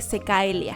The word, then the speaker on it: cecaelia: Well yes, but it is also a type of mermaid, or lesser-known mythological creature that goes by the name cecaelia. (Pronounced Cecilia) On the other hand,